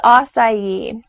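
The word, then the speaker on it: açaí: going to talk about is aside and it's spelled a cai and you may have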